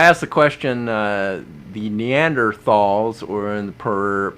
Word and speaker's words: Neanderthal: the question uh the Neanderthals or in per the proper pronunciation I was told neander talls have all died out